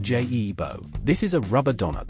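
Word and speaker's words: Giubo: Let us start with the guebua, pronounced J-E-bo.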